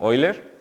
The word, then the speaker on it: Euler: Y quizás lo primero que me gustaría decir es que no se dice Euler, sino Euler, como lo estoy pronunciando.